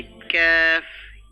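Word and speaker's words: ك: এটা এটা হচ্ছে ক্যাফ জিহ্বার গোড়া যেখান থেকে উচ্চারণ করছেন তার একটু সামনের দিকে আনলে যেটা হয় সেটা হচ্ছে ক্যাফ ক্যা ক্যাফ এটা কফ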